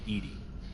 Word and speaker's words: EDI: Why are you named Edie? EDI is the phonetic pronunciation of EDI. That is an acronym for Enhanced Defense Intelligence.